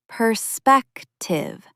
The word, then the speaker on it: perspective: It's perspective with clear stress on the second syllable.